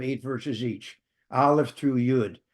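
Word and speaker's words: יוד: Olive through yud or also pronounced yod.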